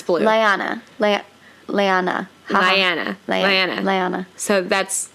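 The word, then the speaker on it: Lyana: Liana. So that's how you pronounce it.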